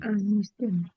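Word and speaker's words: ἀνίστημι: Entonces queda anístem, anístemy. Anístemy. Ya no, ya no puedo pronunciar el espíritu rudo porque ya no está al principio de la palabra.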